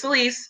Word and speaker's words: Celise: just before they even my name is celise it's it's it's you know and i told i would immediately get the oh sales is hard what about celeste but you just said